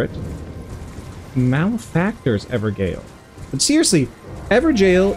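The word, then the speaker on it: Evergaol: malactor everil but seriously ever jail is how people pronounce it it looks like ever Gale right it looks like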